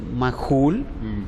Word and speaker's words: Magul: Para que tenham uma ideia, eu sou Mahul, o Dada se foi do sobrenome de meu papá. E, inclusive, no documento, nós não somos Mahul, somos Magul, com G. Então, mudou totalmente a pronúncia do nome e também o próprio sobrenome, sim?